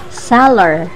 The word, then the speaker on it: seller: Ay guys, mali pala yung pagka-pronounce sa sealer. Hindi pala sealer, dapat pala daw is seller.